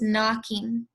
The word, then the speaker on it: knocking: so you're gonna see a word here with a k' in at the beginning of it but it's making the MM sound so you're not gonna pronounce the MK the KN together are working together to make the MM sound this first word is knocking then we have three